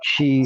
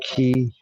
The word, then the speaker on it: chi: Concept, the other chi or ki, pronounced different ways.